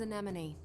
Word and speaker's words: Anemone: My name is Anemone. I'm the Anemone. leader of the android Anemone.